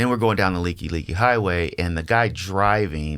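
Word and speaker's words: Likelike: And then we're going down the Leaky Highway, and the guy driving, that's the like highway for those that haven't been in Hawaii. It's literally spelled Like, but it's leaky.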